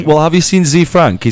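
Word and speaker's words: ZeFrank: Yeah, but people say like Day Z and it's Day Z, and it pisses me off. No, Z. Z. Z-E-E. That's what it's spelled. Z Frank.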